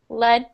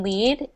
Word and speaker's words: lead: So for the third one, lead paint is pronounced like LED, and lead is pronounced like LEED. So you have that harsh E sound for the second word.